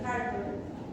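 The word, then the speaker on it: Hürthle: Puede haber fibrosis, pueden aparecer también unas celulitas que son las células de Heart. se escribe hu r t hl, que son unas células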